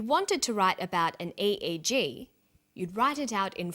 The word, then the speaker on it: EEG: that say the Swinburne researchers he says an EEG that's an abbreviation we don't pronounce it eeeek we say a eg EEG stands for electroencephalograph that's a type of